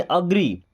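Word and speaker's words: agree: होता है सहमत होना एग्री नहीं अग्री आई एम अग्री या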